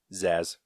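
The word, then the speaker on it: Zsasz: I forget how to say his last name Zaz Zaz thank you to retrieve a diamond embedded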